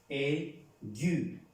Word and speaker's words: aigu: Esta palabra, ya sabemos que la A y la I se pronuncian E. Por consiguiente, esta palabra se pronuncia aigu.